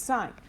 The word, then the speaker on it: sine: It's spelled sine. And so if you could say sin, I'll probably make fun of you a little bit. Don't call it sin. It's sine.